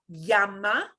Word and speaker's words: llama: So you will hear a little teeny tiny j with a y sound. Llama. Llama. Ah, But llama with just the y is perfectly okay.